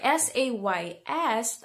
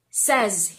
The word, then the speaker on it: says: Okay, so anyway, S-A-Y-Z, I'm sorry, S-A-Y-S, ang sound niya po ay says, hindi daw says.